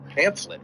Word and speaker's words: pamphlet: Because it's the PH. As I wouldn't lie to you, son, when it comes to this. It's a weird way to pronounce pamphlet. It's the absolute correct way to say the name of that thing.